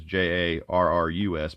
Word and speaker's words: Jarrus: This is J-A-R-R-U-S, but it's pronounced Jarrus, from what I've looked up.